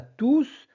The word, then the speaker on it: tous: très bien la bonne réponse est oui on prononce le S car tous est un pronom tous ici remplace un